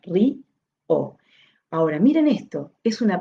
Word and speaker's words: río: el énfasis, río, entonces hace que se sienta fuerte y se separe de la otra vocal que ya es fuerte de por sí, porque se vuelve fuerte. Entonces no es un monosílabo, sino que es una palabra de dos sílabas, ri, o.